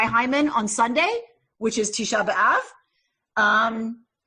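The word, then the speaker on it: Tisha B'Av: on Sunday which is tshaba um or as my grandparents would have called it Tish um which which rhymes with the word love in English you can imagine where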